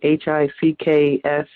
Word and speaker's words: HCPCS: and it's spelled, well, it's pronounced, if you would try to spell it, it's HICKS, PICKS, HCPCS. The HCPCS coding system was developed by the Centers for Medicare and Medicaid Services in 1983.